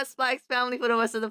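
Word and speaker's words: SPY×FAMILY: So we're going over Spy Family. That's how you're supposed to pronounce it. Kind of Really? like it's like Hunter x Hunter. The X is just for emphasis.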